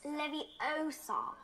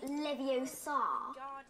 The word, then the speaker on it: Leviosa: You're saying it wrong. It's Leviosa, not Leviosa. You do it then if you're so clever.